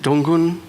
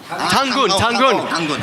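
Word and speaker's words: Dangun: of the old Korean myths of is it Donggun? No, the bear god. How do you say his name? The bear mythology. Tangun.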